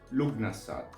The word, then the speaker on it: Lughnasadh: But the pronunciation more rarely found is Lughnasadh, a combination of the name Lugh, an ancient god that we will see in a second, and "nasadh", from the Gaelic, roughly translatable as "assembly".